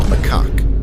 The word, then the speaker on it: macaque: Next up, we have the long-tailed macaque. And yes, that is actually how you pronounce it, at least according to this video.